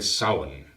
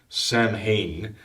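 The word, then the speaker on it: Samhain: evening it's an occult Festival The Witches celebrate Saun right spelled Sam Hayne but it's not pronounced that you know it's Salomon the Feast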